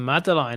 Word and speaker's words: madeleine: Right, so I think we're approaching the madeleine aren't we?